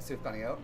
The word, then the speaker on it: sufganiyot: real name for them can you teach me how to say it sure Aaron today we're making suot they are little Hanukkah jelly donuts Su suot suot exactly sfot sfot suot is that it suot you're saying it right that that's actually so